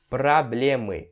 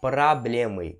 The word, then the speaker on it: проблемы: Проблемы, os problemas. E sim, esse O, ele tem som de A. Então você vai pronunciar проблемы e não проблемы.